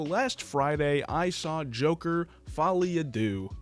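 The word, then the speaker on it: Folie à Deux: Friday I saw Joker Folly ad do or as a Americans say Folly adcs now this is the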